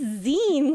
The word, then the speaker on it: zine: It's zine, cause magazine.